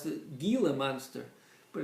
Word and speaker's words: Gila: monster now it's spelled g-i-l-a so you would think you would pronounce the gila monster but it's a spanish word and they don't pronounce the g it's called the gila monster and it's named